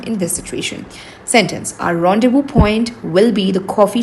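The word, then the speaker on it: rendezvous: it is also called rendevu. Rendevu. It is a French word. That is why it's pronounced differently. You don't pronounce zed explicitly. You don't pronounce s explicitly.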